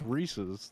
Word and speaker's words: Reese's: just hate the way I say things it's Reese's that's how it's pronounced it's Reese's Cups no it's Reese's cups watch the commercials